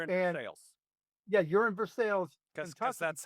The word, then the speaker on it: Versailles: You're in Versailles. Because that's how we pronounce it.